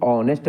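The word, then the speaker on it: honest: अर्थात व साइलेंट है तो इसमें जो एच का उच्चारण नहीं होता इसको नेस्ट नहीं पढ़ते हैं इसको ऑनेस्ट पढ़ते हैं ऑनेस्ट ऑनेस्ट मींस होता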